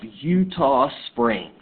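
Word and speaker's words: Eutaw Springs: was the Battle of Utah Springs I know that doesn't look like Utah as in the state but that was a Native American word and that is how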